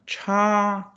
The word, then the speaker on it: 茶: 后标上声调。茶、 Which one? Cha, cha, cha, cha. The second tone, right?